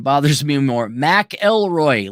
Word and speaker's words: McIlroy: McIlroy, like John McAfee.